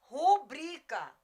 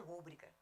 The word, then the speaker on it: rubrica: Abreviada, chama-se rubrica, rubrica, e não rúbrica.